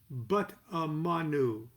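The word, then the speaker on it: Butmon: fluidly off the tongue this method obliges the magician to insert a natural hebrew vowel sound after every enokian consonant for example the word bit mon meaning mouth would be pronounced but amanu this is wonderful words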